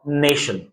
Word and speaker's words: nation: Next आप देख सकते हो TI का एग्जांपल, NATION, बीच में TI है, यहां भी श है, यानी कि इसे पढ़ा जाएगा नेशन।